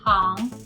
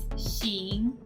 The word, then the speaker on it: 行: The character 行 has two different pronunciations. One is 行, which is more common, and the other one is 行, which means rows or lines.